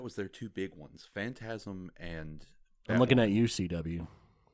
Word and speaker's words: Phantasm: Phantasm?